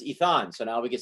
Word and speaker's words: Itan: or I tan it learn its eath on so now we could say that right for